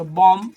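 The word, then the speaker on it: bomb: Your com, है ना, तो यहाँ पे बी साइलेंट हो जाएगा। रूल के अनुसार देखिए बॉम, इसको कॉम पढ़ेंगे, कॉम मतलब कंगा, ये बॉम, बॉम मतलब बम होता है, इसमें बी साइलेंट हुआ।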